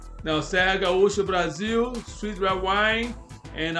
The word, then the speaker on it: Serra Gaúcha: That's the name, and they put it in Spanish Sierra Gaúcha or Gaucha, but in Portuguese the right pronunciation is Serra Gaúcha.